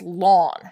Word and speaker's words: ln: is to write Ln now we pronounce this lon so just like the grass outside it is the lawn of X every time you see